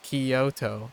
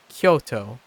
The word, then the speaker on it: Kyoto: I don't know uh Kyoto EO like the it's the second syllable that an American would emphasize Kyoto as instead of Kyoto as in the first syllable anyways it's a little